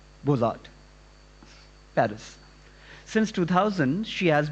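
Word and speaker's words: Beaux-Arts: from Ecole National Superieure du, how do you pronounce the Beaux Arts? Beaux Arts, Paris.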